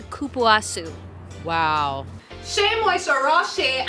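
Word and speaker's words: Cupuaçu: Shea Moisture Raw Shea and Kapuasu. The official pronunciation is Kupuasu.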